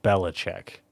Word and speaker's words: Belichick: Well, it is spelled Belichick, but it is pronounced Belichick. I don't know why. I've only seen it written. Yeah, Bill Belichick.